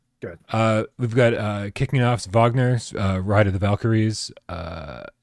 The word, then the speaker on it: Wagner: We've got kicking off Wagner's Ride of the Valkyries. I pronounced Wagner right, but I don't know how to pronounce any of these other ones.